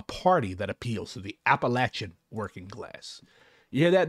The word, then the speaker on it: Appalachia: Finally, a party that appeals to the Appalachian working class. You hear that, Matt? I pronounced it Appalachia, like I'm supposed to.